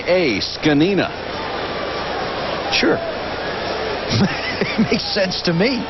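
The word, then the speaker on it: Zgonina: zg o n a scina sure makes sense to me well they always say just like it's spelled yeah right you know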